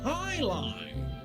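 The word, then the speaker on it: jai alai: It's pronounced highlight.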